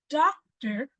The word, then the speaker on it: doctor: vow sound okay so when you say the word doctor you don't hear the same length of O even though you have two OES succeeding doctor doctor so the second syllable were there's another o that o represents this Su sound again the first one is a real o sound a doctor the second one is a SW to demonstrate let's practice